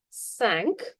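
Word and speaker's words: cinq: Five is sank. Sank. You can remember it. like the ship sank.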